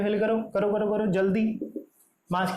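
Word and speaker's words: joule: जूल मैंने आपको बताया था, इसको जूल प्रोनाउंस करते हैं, जाउल नहीं.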